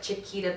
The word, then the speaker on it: Shquita: It's spelled with S-H-Q-U-I-T-A, almost like Shquita banana, but Shquita, that's what I always tell everybody.